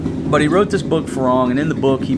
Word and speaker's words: farang: He wrote a book called Farang, F-A-R-A-N-G. Thais pronounce it Phalang.